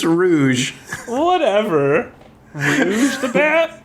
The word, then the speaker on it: Rouge: D vector the crocodile her name's not road what is the it's rouge whatever he's the bat